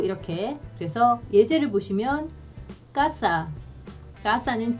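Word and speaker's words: casa: 여기서 보시면 이 세가 아, 오, 우 앞에 오면은요 까로 발음이 나요. 그래서 까, 꼬, 꾸 이렇게. 그래서 예제를 보시면 까싸.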